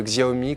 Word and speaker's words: Xiaomi: une marque chinoise dont on a choisi de prononcer le nom à la française alors voici la grande nouveauté de Xiaomi qu'on attendait depuis assez longtemps c'est le MI